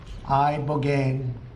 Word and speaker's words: ibogaine: It's called Ibogaine treatment. Ibogaine. Remember the name. Is that pronounced relatively properly, would you say?